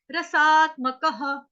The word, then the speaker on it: रसात्मकः: सोमो भूत्वा रसात्मकः, रसात्मकः। रस, रस, उसके साथ आ की मात्रा, रसा, रसात्मकः, म क ह। विसर्ग का उच्चारण ह से करेंगे या हा से कर सकते हैं, दोनों मान्य है।